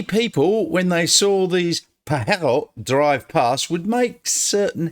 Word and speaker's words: Pajero: came out with the Pajero, which when you write it and pronounce it in Spanish is Pajero.